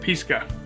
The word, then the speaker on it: Pisca: It's Pisca. Is how you say it, Pisca.